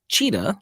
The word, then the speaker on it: Cita: The school name is pronounced Cheetah, like the cat, C-I-T-A, and Haiti, H-A-T-E-E, if anybody wants to look this up.